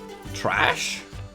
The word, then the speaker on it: Thrash: Trash. Thrash was a mountain troll and Jot and Violet's childhood friend. The H is silent.